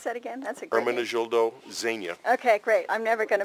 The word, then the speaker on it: Ermenegildo Zegna: And how do you pronounce that again? That's a great Ermenegildo Zegna.